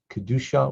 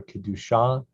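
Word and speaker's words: קדושה: sense of holiness kidusha so some people will say kadusa or kedusha both are accurate line two la shalom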